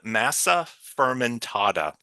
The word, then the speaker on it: Massa fermentata: Number one, there is an herb called Massa fermentata, and it's spelled Massa, next word Fermentata, and it looks like a bouillon cube, a little square.